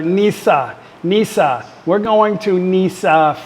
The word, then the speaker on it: Nice: gonna go to Nash it's a nice place in France they actually pronounce it there Nisa Nisa we're going to